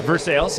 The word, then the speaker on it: Versailles: They call it Versailles here. Just like uh that place uh little uh not not too far from here. I don't want to say it right or wrong because it's what is it? Louisville. Louisville. Louisville. I say Louisville, but it's a Louisville. Yeah. But yeah, Vers Sales.